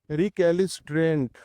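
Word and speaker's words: recalcitrant: ठीक है, चलिए आज का अगला इंपॉर्टेंट वर्ड करते हैं, रिकैलिस्ट्रेंट। ठीक, रिकैलिसिट्रेंट। तो अगर मैं इसको इसका प्रोनाउंसिएशन लिखूं तो कैसे लिखेंगे, रिकैलिसिट्रेंट।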